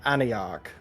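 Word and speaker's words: Aniarche: You may call me Aniarch. Antioch. Spell that for me, Lapis.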